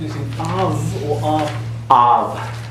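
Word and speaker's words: אב: Av. It's halfway between a V and a B. Halfway. Okay, it's aspirated.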